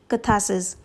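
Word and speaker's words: catharsis: next C have kathasis इस word में are silent है हम इसे प्रोनाउंस करेंगे आज kathasis सो डीज आर दा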